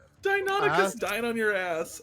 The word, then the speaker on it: Deinonychus: Yes, Deinonychus. Look at you with the correct pronunciation.